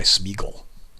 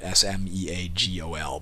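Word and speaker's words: Sméagol: here it is spelled s-m-e-a-g-o-l but the actual spelling in the books is s m e exalted a g-o-l which means it's not pronounced smeagle it's pronounced smeagol is his name bugged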